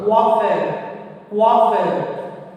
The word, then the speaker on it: coiffeur: Kofa. Wa. Where wa sound is when you are pronouncing there is no wa sound. So coiffeur. Wafa. Super, correct. So it is how to pronounce coiffeur.